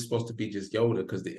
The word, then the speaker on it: Nyota: So she told me that just like her name, the N is silent in Africa. They don't pronounce the N. So I was like, oh, so I've been saying in Yoda all this time.